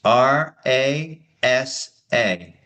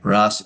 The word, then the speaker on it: rasa: R A S A. Oh, okay. I've heard of that. Right. Ros.